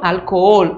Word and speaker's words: alcohol: Então, álcool é uma palavrinha que tem a sílaba tônica diferente do português. Para nós seria álcool, né? E em espanhol, alcohol. A forte, ela é uma aguda.